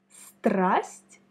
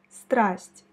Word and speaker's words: страсть: Et prononce avec moi le mot страсть, passion, страсть. Страсть. Je pense que ce mot il pourrait être un peu difficile pour toi parce que, tu vois, il y a 5 consonnes, une seule voyelle et une lettre qui ne se prononce pas, le signe mou.